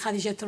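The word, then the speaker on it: Jadiyetu: Pues lo has pronunciado muy bien, porque la mayoría de las veces lo pronuncian con una J pronunciada al estilo francés y me parece, y yo siempre digo que no, que se pronuncia con la J de Jaén.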